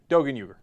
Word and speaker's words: Doğan Uygur: his real name is Doğan Uygur, right? It's the same name, it's just pronounced differently because of the letters in Turkish, right? He's like, yeah, Doğan Uygur.